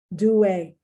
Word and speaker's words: duet: Duet, duet. Once again, that's French. The T is not pronounced.